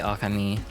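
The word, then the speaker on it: Ōkami: Uh so like I say okami cuz a lot of people say okami which is like I don't think technically wrong but the accent is on the the the first O.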